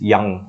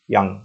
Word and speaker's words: Jung: spring written by Anis young okay j u n is pronounced as young okay anise young okay lost spring stories